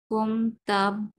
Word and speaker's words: comptable: Je gérais sur le service comptable comptable, না না, বললাম P silent, comptable, d'un entreprise entreprise, entreprise, entreprise হ্যাঁ, de 30 action.